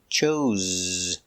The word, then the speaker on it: chose: Pronunciation, use the zebra z. Chose. Z.